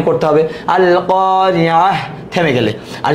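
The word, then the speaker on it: القارعة: আর যদি বানান করে পড়তে, মিলায় পড়তে যান, তাহলে তার উচ্চারণ করতে হবে আল কারিয়াহ, থেমে গেলে।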